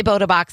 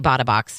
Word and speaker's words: Bota Box: bota box because it's bota box but it makes sense if you say bought a box like i bought a box of wine so yeah so some people say bota box i say bada box just because i feel like it makes more sense but botta box is